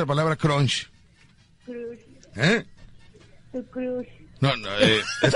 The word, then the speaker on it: crush: Crush. Es con U, Rucho. Crush. Así es. Es como así, cruz, pero es crush.